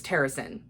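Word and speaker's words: Terrasen: fight or is it no it's terracin i always pronounce it tarasan in my head but it's terracin in the audio but they're all trying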